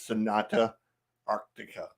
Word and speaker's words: Sonata Arctica: go um I'm with chansy and the correct pronunciation is Sonata Arctica I knew I was gonna